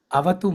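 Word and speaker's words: अवतु: So there is a visarga there, half syllable. You see a exclamation on the top of the. So that is avatu. You have to read it as avatu because of Sanskrit sandhi.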